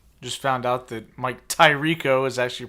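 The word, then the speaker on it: Tirico: a little tired just found out that Mike Ty Rico is actually pronounced tariko you just found this out yes he's been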